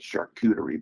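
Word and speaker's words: charcuterie: Shakuterie board.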